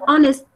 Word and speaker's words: honest: Yet when we use it in a sentence, we say he is an honest man.